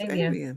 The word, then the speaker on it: Evian: Evian. Avian. That's what it's Avian. Mm-hmm. That's how you never pronounced it like that.